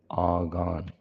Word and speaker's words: ஆகான்: இது ஆகார்னு பெயர் உச்சரிப்புல மாற்றப்பட்டிருக்கு ஆனா இது ஆகான் இவன் யூதா கோத்திரத்தை சேர்ந்தவன்